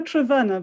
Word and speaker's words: Trevena: So I just want to say a massive, huge welcome to Trevina. Did I pronounce that correctly? Almost. It's Trevena, but I sometimes think Trevina is better because it rhymes.